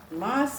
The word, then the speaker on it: maas: Aad means bone, Maas means meat. So today's word for all the English, my friends, that for bones we say hard and meat is maas, not M-A-S-S, okay? M-A-S, like her pronunciation is, that's it.